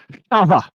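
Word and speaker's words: חוה: won't teach you that Eve is pronounced in Hebrew Chava now which brings me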